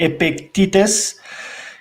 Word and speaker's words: Epictetus: His name is, let me just pronounce it correctly, Epictetus.